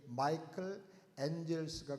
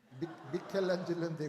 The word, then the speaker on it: 미켈란젤로: 예, 마이클 앤젤스가 그린 천지창조 그림 중에 하나인 것 같아요. 그러면 아닌데요. 미켈란젤로인데 그러면 안 됩니다. 미켈란젤로가 영어로는 마이클 앤젤스입니다.